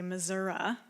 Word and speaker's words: Missouri: I grew up in a small town in Missouri, or as the locals say, Missouri.